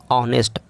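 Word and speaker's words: honest: उसी प्रकार ऑनेस्ट आया तो एच तो है लेकिन ऑनेस्ट आ से शुरू हो रहा है।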